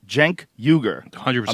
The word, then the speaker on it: Cenk Uygur: Jenkuger. I said it right. Jenkuger%.